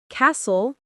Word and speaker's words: castle: Silent T versus pronounced T. Listen, list, castle, cattle, fasten, fast, often soften.